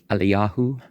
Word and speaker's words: Elijah: a false god, meeting of the messengers with Elijah, pronounced Eliyahu, the rebuke and prediction, the parties sent to